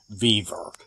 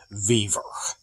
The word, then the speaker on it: Vevor: It's called a Vevor. At least that's how I'm going to pronounce it. Vevor.